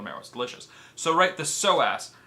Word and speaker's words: psoas: flexors is called the so ass psoas the so ass right obviously the P is silent that's English it's [